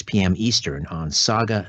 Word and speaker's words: Sauga: 60 am dot ca saga as in mississauga is spelled s-a-u-g-a s-a-u-g-a s-a-u-g-a saga 9 60 am